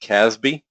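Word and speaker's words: CASB: a couple of years old it's called it's pronounced caz B and and what a cloud access security broker does in Microsoft has has their own Caspi tool it's called cloud app security and what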